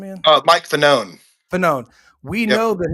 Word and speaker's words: Fanone: Well, is it Falcone? Falcone? How do you pronounce his last name again? Mike Fanone.